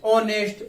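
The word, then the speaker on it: honest: क्या बोलते हैं, ऑनेस्ट।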